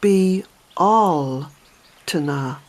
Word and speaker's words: Bealtaine: spelling of belts now the pronunciation of it by the way is be all - nah be all - nah